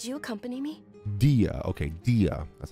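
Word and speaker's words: Dehya: Dia, okay, Dia.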